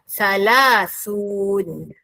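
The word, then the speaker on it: ثلاثون: Maka jadilah salas. Gabungkan dengan un. Maka jadilah bunyi salasun. Jangan pula bunyi salasun. Salah. Gabungkan. Gabungkan. Maka jawapannya sebutan yang betul ialah salasun.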